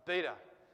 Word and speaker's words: beta: got beta right alpha beta beta is exactly the same as the b in english as well so this is